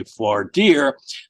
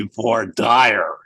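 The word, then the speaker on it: voir dire: asking to do a v deer that's the way we pronounce it up here in New York but in Alabama it would be V dire um also dalbert which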